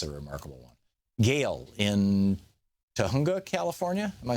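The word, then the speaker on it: Tujunga: Gail in Tahunga, California.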